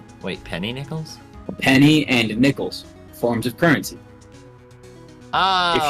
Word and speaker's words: Nichols: assistant we talked to I think it's still pronounced Nichols not Nick not Nicole's yeah it's Nichols because her name is